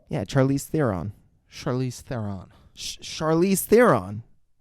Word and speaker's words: Charlize: Charlize. Have you really not heard her name? Yeah, Charlize Theron. Charlize Theron. Charlize Theron. That's what I said. You said Charlize? No fucking way. No fucking way. Charlize?